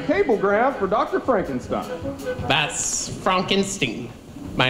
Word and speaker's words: Frankenstein: That's Frankenstein. My name, it's pronounced Frankenstein.